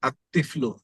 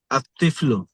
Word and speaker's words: الطفل: আর শিশুটি আল তিফলু এখানে লাম উচ্চারণ হবে না আত্তিফলু طفل আত্তিফলু তিফলু الطفل হ্যাঁ আত্তিফলু